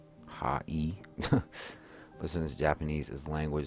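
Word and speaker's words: はい: is the English translation this word sounds like high or high however remember how II sounds like II the word high is actually pronounced ha e listen this Japanese is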